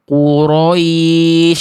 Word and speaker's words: Quraisy: Tolong perhatiin lagi r-nya. Kalau benar komen benar, kalau salah komen salah. Li I liilafi Quraisy. Quraisy. Tuh getarannya udah saya kondisikan. Enggak lebih enggak berlebihan, enggak hilang.